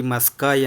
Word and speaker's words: ಮಸ್ಕಾಯಿ: ಏನು ಹೇಳಿಕೊಡಕ್ಕೆ ಬಂದಿದ್ದೀನಿ ಅಂತಂದ್ರೆ ಈ ಮಸ್ಕಾಯಿ ಅಂತಾರೆ ಅಥವಾ ಮಸ್ಗಾಯಿ ಅಂತನು ಅಂತಾರೆ ಎರಡು ತರ ಕರಿಬಹುದು ಉಚ್ಚಾರಣೆ ಸ್ವಲ್ಪ ಕ ಮತ್ತೆ ಗ ವ್ಯತ್ಯಾಸ ಅದು ಎರಡು ಕೂಡ ಏನು ತಪ್ಪಿಲ್ಲ ಇದು ಮಸ್ಕಾಯಿ ಅಥವಾ ಮಸ್ಗಾಯಿ